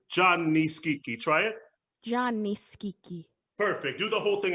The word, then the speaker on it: Gianni: can't hear you um it's johnny not gianni it's john nice geeky exactly the eye is silent the eye has changes the quality of the jaw so johnny okay because i'm you're